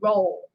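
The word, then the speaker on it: Rolle: the 23 years Jeffrey Ro senior now I'm sorry if I said his last name wrong is pronoun well spelled r o l l e like ro ro jelly Ro so yeah yeah jelly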